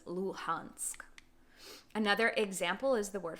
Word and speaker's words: Luhansk: ukrainian city for example luhansk luhansk you'll hear the russian speakers pronounce this as lugansk and then the ukrainian speakers will pronounce this as luhansk another example is the